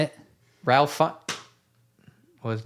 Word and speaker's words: Ralph Fiennes: Ralph Fiennes.